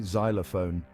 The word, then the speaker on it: xylophone: learn repeat after me xylophone this word starts with the z sound even though it's spelled with an X now try these Xenon